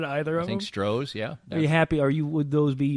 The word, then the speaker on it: Stroh's: How about Stroh's?